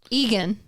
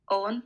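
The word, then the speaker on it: Eoghan: Owen Owen okay next e-o-g-h-a-n this is obviously Egan Egan is it Eagan no no it's also Owen Owen it's another Owen there's just a million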